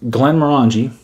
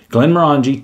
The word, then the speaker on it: Glenmorangie: line of this but glenn morangie that is how you say it glenn murangy tenure yeah looks like this